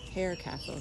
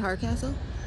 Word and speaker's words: Harecastle: a boat facility for the hair Castle sorry not Hardcastle okay or casual you pronounce it Hardcastle okay it looks like hair oh there goes the